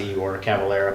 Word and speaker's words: Igor Cavalera: matter as an accent I think it's pronounced Igor Cavalera but a lot of people